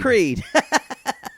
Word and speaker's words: Creed: Creed. Rhymes with Reed.